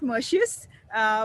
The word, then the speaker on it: Merxius: I mean, we call it Mercius, but yeah, I mean, anything goes.